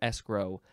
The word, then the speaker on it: escrow: second form of escrow you can emphasize either syllable this is a transitive verb from 1946 and it is to place in escrow I'm going to Escrow